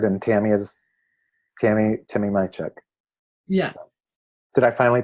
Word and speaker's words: Majchrzak: the Danny Picard and Tammy is Tammy Timmy my Chuck yeah did I finally pronounce it accurately yeah so Tammy is in